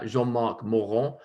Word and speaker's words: Jean-Marc Morand: I tried all of the Hospice de Nuit reds with Jean-Marc Morand, whose name sounds a lot better, even with my bad French accent, than if you pronounce it in the English way.